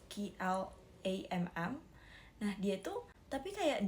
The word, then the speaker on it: Klamm: Dia itu berusaha keras banget untuk menghubungi pihak kastil, terutama seorang pejabat misterius bernama Clem. Actually, I don't know how to pronounce his name. It's Klamm.